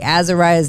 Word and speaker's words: Azariah: was on that okay azariah's name pronounce Azariah okay I'm saying it right perfect sorry I heard